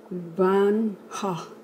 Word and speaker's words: Van Gogh: But the French people pronounce it Van Gogh.